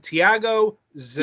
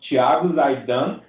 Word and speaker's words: Tiago Zaidan: Right, we're welcoming Tiago, Zaidan. Yeah, that's awesome. Yeah, in Portuguese, it's called Tiago, Zaidan, but the way you said it's perfect. I mean, you rocked it.